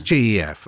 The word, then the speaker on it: Gef: it is then jeff jeff spelled with a g let's not get silly here oh yeah it was gef i mean i can't